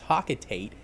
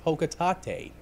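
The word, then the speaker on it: Hocotate: incorrect jerk heads out there no it's not pronounced hawk at eight it's pronounced ho quitate so olimar walks over to this weird object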